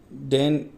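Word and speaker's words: deign: डेन, इसको pronunciation डेन बोला जाता है।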